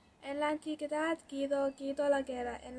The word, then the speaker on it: antigüedad: I'm pronouncing now the vowel U, la vocal U, because of the dieresis. Por ejemplo, antigüedad, antigüedad, gue, guedad, antigüedad.